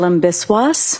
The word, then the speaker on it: Biswas: Name is Biswas. My first name is spelled J H I L A M.